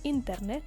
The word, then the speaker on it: internet: have L internet L internet which is the internet the only difference is in the pronunciation L internet so the accent Falls here internet then we have El